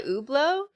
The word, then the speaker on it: Hublot: the back it's stamped on the back by Hublot um you said it right too to me